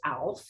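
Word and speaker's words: אלף: about today its letter is a a is pronounced alf in hebrew the it's the fool and it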